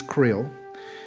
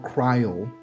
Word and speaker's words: Creole: She's Creole, or Creole, depending on where you're from. The pronunciation is different.